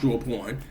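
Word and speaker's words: Drawnpr0: porn it's you know he's felt like d-r-a-w-n-p-r-0 and but it's pronounced through a porn um those are my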